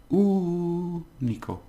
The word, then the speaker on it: único: Now we have the stress on here. So it's único.